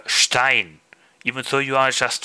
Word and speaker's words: Stein: little bit sharper because if you say Stein Stone in German uh you have one s but you uh uh uh pronounce it like uh sh s c h uh yeah like said sh uh Stein even though you are